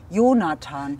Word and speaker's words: Jonathan: But Jonathan is English pronounced, I think. Ah, okay. Ta is not a German name, I think. Jonathan.